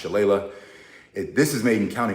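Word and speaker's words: Shillelagh: years I really appreciate Doug this is Doug's shalele or as my Irish father-in-law uh said to me it's actually pronounced Chala this is made in County Wicklow which is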